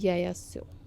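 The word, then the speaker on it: Yaya Tso: Biodiversity heritage site is याया सो। ठीक है, सो this is pronounced as सो, नॉट द सो, याया सो।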